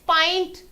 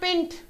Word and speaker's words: pint: the way this is pint it's not pinned okay the pronunciation of this word is pint like the here you say the name of the vowel name of the vowel okay clear everyone right